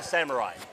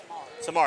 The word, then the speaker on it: Samari: Is it Samari or Samurai? Samari. That's how I've been doing it.